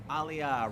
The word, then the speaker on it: aliyah: Aliyia rhymes with I don't got a job.